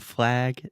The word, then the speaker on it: flag: tip just real quick the word flag this is the a sound so this sound technically does not exist in Portuguese so you're not saying